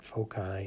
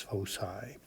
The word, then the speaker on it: foci: And it's pronounced with an S sound, not a hard C sound. So it's not foci, it's foci.